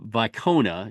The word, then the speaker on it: Wicona: Stephen AER uh from vona it's spelled with a W but it's pronounced with a V uh I I probably